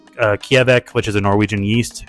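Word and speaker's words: kveik: Yeah, I get down with some IPAs, and I think I said it wrong. It's Kjevek.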